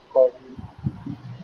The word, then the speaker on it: cordial: So the first syllable should write the stress, cordial.